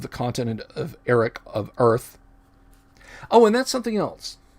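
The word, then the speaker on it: Oerth: is called earth o-e-r-t-h some people have said gary pronounced it with like a city slicker you know like midwestern chicago or or cleveland or even a brooklyn accent oif it's oith i always said to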